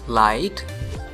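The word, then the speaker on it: light: So let's move to आई जी एच टी जिसमें जी H silent है. For example we यूज लाइट, वी use site, site, टाइट, फाइट.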